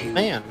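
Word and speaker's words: Vaan: name is V but that's that's an archaic pronunciation so we're going to call him we're going to call him uh van throughout this three more right and game in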